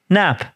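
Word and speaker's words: Knapp: do you pronounce that kellerer and nap yeah nap why put the ker like this is what sickens my whole it is unnecessary K they saw and investigate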